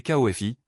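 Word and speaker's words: Ko-fi: C'est KFI prononcé exactement comme Coffee et le lien est dans la description et dans notre bio.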